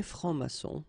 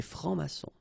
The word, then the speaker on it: francs-maçons: Des francs-maçons. And then you don't pronounce them. Des francs-maçons.